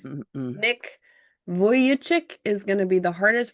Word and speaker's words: Vujicic: Nick Vujicic is gonna be the hardest.